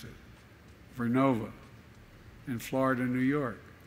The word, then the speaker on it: Vernova: ARCOSA makes wind towers that's going to go into turbines made by GE Verona. Excuse me, I mispronounced it, Vernova, in Florida and New York.